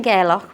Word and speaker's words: Gairloch: much enjoy this is how do you say the name of the place is it gck gerock gerock gerock so we're in gerock we're in gerock Harbor